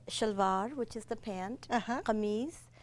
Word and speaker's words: kameez: Kameez. It's like the French chemise.